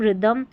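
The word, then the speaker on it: rhythm: आर एच को र क्यों पढ़ा, क्योंकि एच यहाँ पर साइलेंट है, देखिए राइनो, राइम, रिदम, रेटोरिक, यहाँ पर हिंदी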